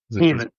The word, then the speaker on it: Jhaven: Jhaven. Got it. The J is silent. Got it. Jhaven Sims.